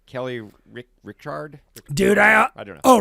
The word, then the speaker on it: Reichardt: Kelly Richard? Dude, I don't know. Oh, Reichardt? Kelly Reichardt. Reichardt.